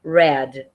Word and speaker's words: read: Só que quando a gente pronuncia no passado, a gente vai pronunciar red, do mesmo jeito que se pronuncia a cor vermelha, red.